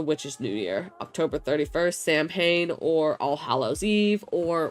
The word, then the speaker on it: Samhain: This is known as the Witch's New Year, October 31st, Samhain, or All Hallows Eve, or whatever you want to call it. Samhain.